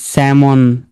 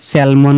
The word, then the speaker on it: salmon: এই যে স্যামন, যেখানে স্যালমন বলি আমরা, তাই না? এটা হচ্ছে স্যামন।